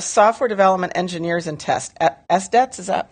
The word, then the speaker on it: SDET: And this idea of software development engineers and test, SDETs, is that how you say it?